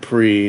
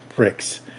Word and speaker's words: Prix: Notice folks, we said pre, not pricks.